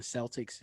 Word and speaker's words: Celtic: the c is um is pronounced with the heart k you know so like how we think about the boston celtics is really pronounced celtic so also kel 1600